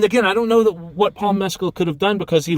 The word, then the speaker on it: Mescal: Mescal? Paul Mescal.